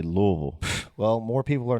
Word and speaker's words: Louisville: Our big one is always Louisville or Louisville or Louisville. It's Louisville. Easy. Louisville. That's easy. It's Louisville. Louisville. If you're from Louisville, you say Louisville.